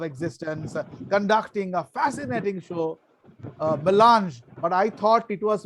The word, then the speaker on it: melange: I was saying MC Kejriwal Vidyapit, 25 glorious years of existence, conducting a fascinating show, melange, but I thought it was Milenge. I was pronouncing it as Milenge.